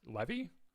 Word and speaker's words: Levy: leevy Levy you're talking about the ctor yes Levy I how how it's spelled l v y Levy Levy okay so